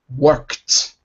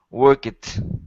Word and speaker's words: worked: Worked. Work it. No, no, no. You're saying work it. Not work. Worked.